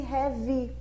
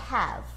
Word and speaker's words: have: Tá vendo ali na descrição da fonética que o V termina aqui no V, não tem mais nenhuma vogal, porque a pronúncia adequada é have. Have. Tá? E não have, não tem esse i no final, tá? Só aproveitando já a a